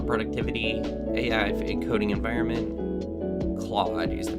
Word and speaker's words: Claude: Claude is the pronunciation.